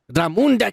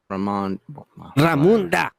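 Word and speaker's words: Ramonda: And then Queen Ramunda, she's dealing with the pressure because Ramunda, Kike, fuck you. Well, it has an O, not a U. Oh, you know what? You're right. Ramunda.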